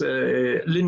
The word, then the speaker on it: Lynne: actually is is it is it beond l in is that how you say it or is L that's that's correct in Norwegian we would say the at the end yeah I mean yeah